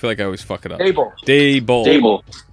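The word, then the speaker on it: Daboll: Dable. Dable. Like Dable. Day and Bull. Dable. Got it. Yeah. Dable. Dable. Yeah. Like table, but Dable.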